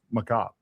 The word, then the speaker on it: macabre: or that macabre is actually supposed to be pronounced macabre.